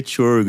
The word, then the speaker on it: Csorgo: para quem não sabe escreve CS o rgo mas se pronuncia torgo e no Linkedin ele